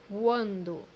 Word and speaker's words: quando: which means in Portuguese, quando, quando, as you see here, letter U or U in English is pronounced as W, so it would be qua.